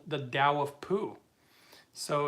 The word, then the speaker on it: Tao: so the they call they pronounce it the Dao but it's spelled the Tau um you know there's another really good book uh called the Dao of poo so it's the then t-a-o and